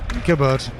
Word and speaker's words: Gabard: Was it a silent G or not? And having heard No, no, no. You pronounced the G. Jabboard. Gabard.